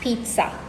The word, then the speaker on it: pizza: But there is a T that is not there in the word that you have to inject into the middle of the word when you're pronouncing it. You pronounce it correctly as pizza.